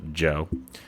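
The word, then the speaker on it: Djo: artist yeah and that's usually not your D like the letter d j o d j o pronounced by Alexa Joe uh Gloom is the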